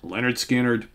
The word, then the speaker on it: Lynyrd Skynyrd: of the great debut albums of all time pronounced Leonard skinnard Classics on here I mean Freebird I ain't